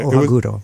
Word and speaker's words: Ohaguro: Ohaguro? Okay, Ohaguro.